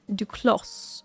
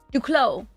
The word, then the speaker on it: Duclos: Duclos. Duclos? Don't pronounce the... What is that? Don't pronounce the S.